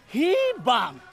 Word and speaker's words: Hibang: You're saying it wrong. It's Hi-bang.